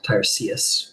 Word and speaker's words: Tiresias: Tiresias, I suppose. Tiresias would be the correct pronunciation.